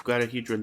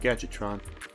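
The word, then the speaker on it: Gadjiltron: I thought it was Guadahedron Dragon, but it's probably Gadgetron. Let's sell this. Let me see. Gil dragon. So yeah, Gadgetron. That's what it is. I've been pronouncing it this whole time.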